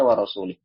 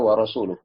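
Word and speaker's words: ورسوله: Yang mana dia membacanya dengan tadi, innallaha bari'um minal musyrikina wa rasulih. Permasalahannya di sini adalah dikata wa rasulih yang dibaca majrur. Nah, ini maknanya berbeda kan, harusnya wa rasuluh.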